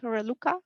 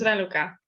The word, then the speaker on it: Raluca: And would like to ask Humuts Reluka. I'm sorry when I pronounce the name wrong. Your microphone is not on. Yes, Hormuz Raluca.